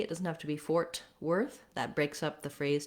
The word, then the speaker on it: Fort Worth: We have stress is on worth in this. You don't want Fort Worth, but Fort Worth, second syllable stress.